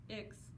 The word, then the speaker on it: ICCS: When I left my big public school and transferred to ICCS (short for Intertribal Community Charter School and pronounced icks), I really thought things would change for me.